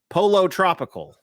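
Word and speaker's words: Pollo Tropical: So Gary is mad at my my pronunciation there. Yeah. Let me try it again. Polo Tropical.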